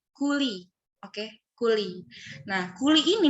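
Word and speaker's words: Cooley: Nah, ini tuh jangan sampai pronounce salah. Namanya tuh kuli.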